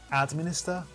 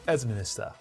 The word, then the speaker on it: administer: Administer or administer. And you can see, as the phonetics says, it is ed, and the second syllable is stressed. It's not administer, it's administer. So the second syllable is stressed.